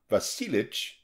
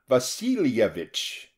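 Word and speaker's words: Vasilyevich: vasilovich kotelnikov reminded him pronouncing it not vasilich but fully vasilevich and this pronunciation was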